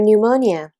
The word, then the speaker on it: pneumonia: I'm going to give you a prescription for your pneumonia. 제가 처방전을 드리도록 하겠습니다. 폐렴에 대한. 자, 참고로 여기서 pneumonia의 P는 묵음입니다.